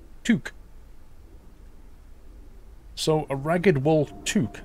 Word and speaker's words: toque: Pronounced toque.